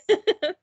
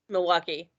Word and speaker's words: Milwaukee: She is from Wisconsin, and I didn't even say where because that's a hard name to pronounce. I'm sorry. How do you say it? Milwaukee. Say it again. Milwaukee.